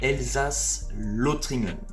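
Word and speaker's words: Elsass-Lothringen: L ou e l si on le prononce à l'allemande elsas lotringen c'est une gare qui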